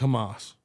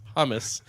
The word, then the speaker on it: hummus: will you stop with hamas what are you guys gonna let out i think you're mispronouncing it's hummus yeah and it's delicious